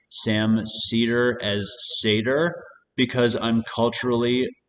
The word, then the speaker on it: Seder: Like Sam Seder, like Cedar, there, I just did.